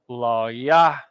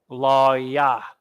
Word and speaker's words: Lawya: Now, the tribe of Levi in the Bible, and we pronounce it in the Hebrew, is pronounced Lawya. Lawya. Lawya.